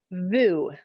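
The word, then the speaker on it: voo: margie the foot or what's the other one vu i don't even know i don't know either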